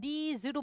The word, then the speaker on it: these: 자, this, these, that, those는 일단 옆에 필기 하나 할 거예요. this 발음이 this로 됩니다. 이거의 복수형은 these로 발음돼요. these. s가 두 가지 사운드가 있거든요. z가 있어.